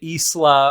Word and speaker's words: Isla: at me eventually for not pronouncing it Isla or whatever like the canonical pronunciation of it is I say Isa on purpose to highlight how ridiculous